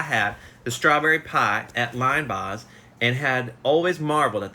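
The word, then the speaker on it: Linebaugh's: in downtown Nashville called Lynn Boz pronounced o-line Boz pronounced line Boz it was a place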